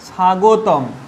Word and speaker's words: স্বাগতম: দেখো, যদি দন্তস্বর সঙ্গে বটা নাও থাকে, বটা যদি আমরা তুলে দিই তাও কীরকম উচ্চারণ হবে? সা। আর দন্তস্বর সঙ্গে বটা থেকেও দেখো কি উচ্চারণ হচ্ছে? সা। অর্থাৎ বফলার এখানে কোনো উচ্চারণ হচ্ছে না।